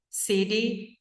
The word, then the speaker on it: city: É então my my current current city is my current city is c som de e um um flat tea que a gente chama tá que ele é mais para um d do que para um t.